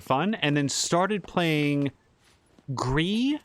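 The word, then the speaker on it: Gris: and then started playing gree which is my understanding of how to pronounce g r i s uh that is a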